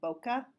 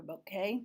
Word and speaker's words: bokeh: the what they call bokeh or bouquet depending on how you pronounce it but those are those